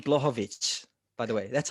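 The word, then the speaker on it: Błachowicz: uh so jan can you say his name blochovich by the way that's how you say yeah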